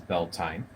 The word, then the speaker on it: Beltane: and happy building so today is Beltane also pronounced by some as bell tine I don't want to argue over the pronunciation but just know that if you hear Beltane or Bell tine there of course are different ways of pronouncing it and I guess it could greatly depend on the tradition that you're following so belting right as I call it so I'll refer